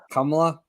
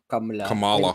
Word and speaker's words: Kamala: says her name because he keeps trying to say it harsh his way kamla I'm trying to pronounce it correctly okay I'm sorry Kamala kamot yeah kamot kamot